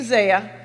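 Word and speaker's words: Zayre: an early Za store the name Za came from the Jewish phrase zut meaning very good the feldberg decided to spell it z a y r e for very good and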